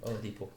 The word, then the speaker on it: Oladipo: Oladipo.